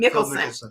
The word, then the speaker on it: Mickelson: We call it in the tax and accounting world, the Phil Mickelson, that's how you say his name, Mickelson.